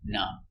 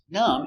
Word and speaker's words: numb: Silent B, numb. Numb is a description.